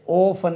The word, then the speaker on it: orphan: ORPHAN ஓஃபன். நம்ம ஆர்ஃபன்னாலே சொல்லுவோம். ஓஃபன் இது ஓஃபன் என்று உச்சரிக்கணும். ஓஃபனேஜ்.